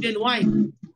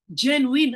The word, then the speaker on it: genuine: kasi ang ang ang usually na ginagamit nating word pag sinabi ng dalisay ay gen wine actually hindi genuine ha genuine ang talagang pronunciation doon hindi genuine genuine kaya ngayon ang term